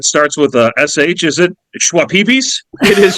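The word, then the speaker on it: Schweppes: ginger ale that starts with SH is it schwap pees it is schwap pees he PE Ginger swap pees all right KK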